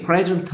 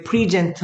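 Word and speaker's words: present: 아이일 수 있습니다 제시하다 발음이 프레젠트 하면 선물 또는 출석합니다 근데 프리젠트 하면 강세가 뒤로 가면 제시하다 제공하다 이런 뜻입니다 당신은 그것을 제공할 필요가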